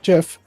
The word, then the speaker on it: GIF: a fact for example it's not pronounced GIF despite the Creator calling it gif it is GIF because the G and GI stands for graphics and you don't you don't say Graphics it's also just yeah